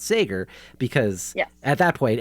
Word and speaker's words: Sager: It is Sager, everybody, just for the record.